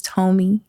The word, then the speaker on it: TÖME: Her name is TÖME.